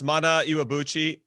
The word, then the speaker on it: Mana Iwabuchi: Can we get Jimmy pronouncing that? Yes, Mana Iwabuchi, 27 years old, Japanese national team player.